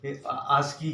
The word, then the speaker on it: ASCII: एंड ये एक ASC आस्की, जिसको हम प्रोनाउंस करते हैं ASCII। इसको अगर हम कंप्लीट इसको हम अगर बोलते हैं तो इसको हम आस्की कोड भी बोलते हैं।